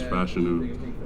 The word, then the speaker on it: Fashanu: How many ways have people butchered it? So my full first name is Olu Fashanu, then my last name is Fashanu, and in terms of butchering it, I mean, it's not really bad.